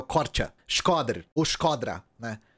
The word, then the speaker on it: Korça: A C cedilha em albanês é o ch, então é o Korça.